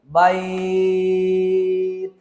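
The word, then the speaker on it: بيت: উচ্চারণটা এরকম, বাইত।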